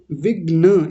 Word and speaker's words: विघ्न: चापम showcase विग्र मानस विघ्न ये र नहीं है ग में नीचे न बना हुआ होता विघ्न अच्छा जी हां जी